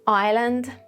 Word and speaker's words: island: We have silent S in some situations like in island oil and debris or debris.